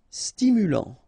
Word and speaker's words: stimulant: Stimulant, final T not pronounced, stimulant, stimulant.